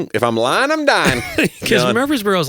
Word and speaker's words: Murfreesboro: Yeah, it's like put the accent on the free. Right, the accent on the syllable. That's Murfreesboro.